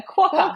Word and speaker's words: quokka: I think is this the correct pronunciation? A quokka.